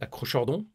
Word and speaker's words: acrochordon: vous parler des acrocordons je sais c'est difficile à prononcer d'ailleurs il y en a qui disent acrochordon vous me direz dans les commentaires comment vous le prononcez vous bref les acrocordons ce sont ces petites